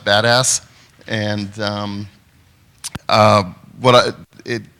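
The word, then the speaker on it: BDAS: uh mystery right now it's pronounced badass and um uh what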